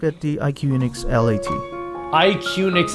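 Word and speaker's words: IQUNIX: IQnix is how they say it.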